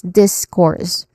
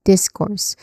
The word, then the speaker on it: discourse: letter s sounds okay so the first syllable here is in the first syllable so you say this with more emphasis discourse again discourse next inunciate Annunciate you pronounce words clearly.